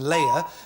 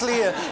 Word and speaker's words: Leia: Princess Leia princess olia I think Lee is probably a better pronunciation than Lela for a princess but no Princess Lea is correct so you get that